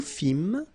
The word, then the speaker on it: fîmes: Nous fîmes, same thing here, you don't pronounce the S.